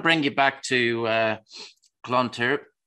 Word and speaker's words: Clontarf: you back to uh Clontarf I'm going to be rubbishop pronouncing this now even though there's a d on the end yeah okay there you